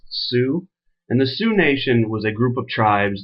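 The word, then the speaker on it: Sioux: down correctly ly s IO ux but it's pronounced Sue and the Sue nation was a group of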